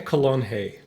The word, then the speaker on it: Calonge: why we have Colon here with us. did I get the pronouncing of your name right? Good enough. Okay. Very good. How How would I do it per perfectly? Colon.